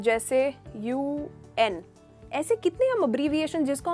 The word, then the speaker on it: UN: पर ये देखा, इसको मैंने उन नहीं कहा, इसको मैंने UN कहा। तो ऐसे जो अब्रीविएशंस जिनको लेटर लेके प्रोनाउंस किया जाता है उनके आगे द लगता है। जैसे कि I want to बी a part of द UN, द UN।